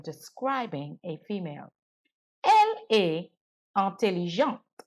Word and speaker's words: intelligente: Elle est intelligente. Here, because intelligente ends with an E, I have to pronounce the ENT.